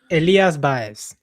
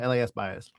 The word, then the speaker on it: Elías Báez: ELÍAS BÁEZ. Bias. Okay. I put the emphasis on the wrong letter. Yeah. I keep doing that. It's just emphasis on the wrong syllable.